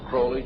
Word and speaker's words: Crowley: have his name pronounced crley to rhyme with holy and uh the Satanist